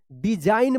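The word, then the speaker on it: design: एन से पहले जी है तो जी साइलेंट रहेगा। डिजाइन पढ़ेंगे।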